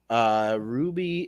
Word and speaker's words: RWBY: to be talking about Ruby. That is spelled RWBY. And Ruby is is kind of